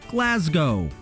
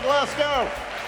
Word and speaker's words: Glasgow: so have some of our presidents the correct pronunciation of the city in scotland is glasgow hello glasgow the city hosted last year's united nations climate